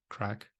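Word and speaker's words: craic: like I think like the word is Irish c-r-a-i-c let's pronounce crack you know there's a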